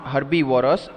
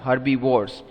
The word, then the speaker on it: herbivores: so they are called herbivores yes not herbivorous herbivores now repeat the answer